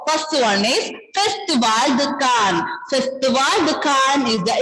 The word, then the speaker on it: Cannes: And the pronunciation will be Cannes.